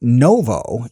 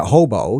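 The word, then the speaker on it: Ново: almost every store because in the Cyrillic alphabet the N is expressed by H and uh V is usually B so it's really Novo you're saying you know you're not pronouncing it hobo you're pronouncing it Novo and so new you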